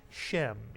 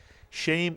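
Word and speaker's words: שֵׁם: the A sound, or sometimes the seirei is pronounced very much like a segol, and some people would say shem. Either way is correct. Shame or shem means name. The English rhymes with the Hebrew, shame and name.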